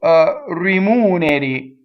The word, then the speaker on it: rimuneri: So rimuneri. So the accent is on the U, right? So rimuneri. So all single consonants, single M, single N, and flipped R.